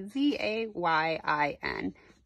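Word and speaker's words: זין: If I were to spell it in English, we call that phonetically, it would be Z-A-Y-I-N, Zayin.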